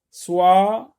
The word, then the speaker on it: soixante: Soixante, ici X se prononce S.